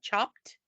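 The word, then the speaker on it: Chopt: place here called chopped it's spelled c h o p t chopped and I've heard that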